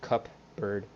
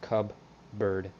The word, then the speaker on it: cupboard: How it's pronounced cupboard with a B and not with a P, like cup bird. It's pronounced cub bird.